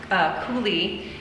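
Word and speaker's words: Cúladh: And it's, I believe it's pronounced Cooley, and it's spelled C-U-L and then A-O-D-H, and it's a polka.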